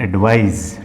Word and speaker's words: advise: Pronunciation होता है Z, एडवाइज। ठीक, और ये जो C है ना बेटा, इसका प्रोनाउंसिएशन होता है स, मतलब एडवाइस। ठीक, यहाँ पर S का साउंड देता है ये।